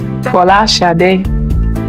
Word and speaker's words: Folasade: Actually, my true Nigerian name, or the true Nigerian pronunciation, or as close as I can get to it, is Folasade.